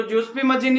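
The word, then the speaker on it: Giuseppe Mazzini: वाले को अब हम गुजी पी मजनी के बारे में पढ़ेंगे इसको जसपी मजनी भी बोला जाता है गुजी पी मजनी भी आप ध्यान दे लेना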